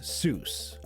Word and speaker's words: Seuss: Undeterred, he decided to use his middle name, Seuss, as an alias, only changing the pronunciation to the anglicized Seuss.